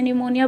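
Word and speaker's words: pneumonia: Micro organism that cause, micro organism जो कि कारण है किसका, कॉमन कोल्ड का, ट्यूबरकुलोसिस, टीबी का, निमोनिया का, इसे निमोनिया बोलना पी साइलेंट है, एक्सेट्रा, स्प्रेड थ्रू एयर, ये एयर के ज़रिए फैलती है।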